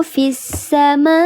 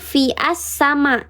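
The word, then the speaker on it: في السماء: Fissa dibacanya bukan fi'as sama, tapi fissa. Tapi ketika kita wasal di sini, misalnya mau ditubruk nih ke sini, jadinya as-samai kadzalika.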